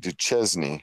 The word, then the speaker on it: Duchesne: and they call it it should be called duchesne cuz that's how it's spelled they called you shank and then really screws people up here in